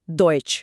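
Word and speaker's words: Deutsch: और ई यू और ए यू, इन दोनों का उच्चारण ऑय होता है। दोनों का? हाँ, दोनों का। जैसे यूरोप को ऑयरो बोलेंगे और डॉइच को डॉइच।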